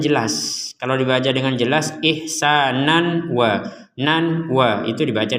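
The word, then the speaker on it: إحسانا: illallah Nah di sini ada kata ihsanan sekali lagi ihsanan di sini fathatain kita bacanya ihsanan tapi kenapa kita barusan praktiknya bacanya ihsana karena kita wakaf ataupun kita berh berhenti Kita membacanya ihsana dua dua harakat ketika kita menggabungkan kata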